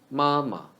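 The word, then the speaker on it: 妈妈: Mama. The second character of step words should be reduced into neutral tone. 轻声. So the second ma should be read ma.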